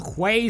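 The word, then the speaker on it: Huế: Hue City if you're new and not Vietnamese, Hue City if you heard how to pronounce it properly for the first time, and Ware City where your Vietnamese friend will say it's actually pronounced Ware City.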